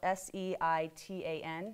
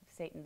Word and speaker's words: seitan: It's spelled S-E-I-T-A-N, not actually like Satan the devil, but seitan.